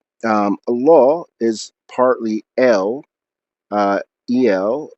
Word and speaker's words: al: A law is partly uh, el, even though it's spelled al, el being the definite article, the high one, the most important one.